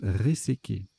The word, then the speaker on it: réséqué: Ça se prononce réséqué.